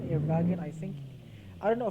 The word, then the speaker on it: Wagen: So the W, in German it's V, Wagen.